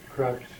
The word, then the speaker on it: Krapp: And I keep saying Krupp because that's how they wanted it pronounced, but it was Krapp.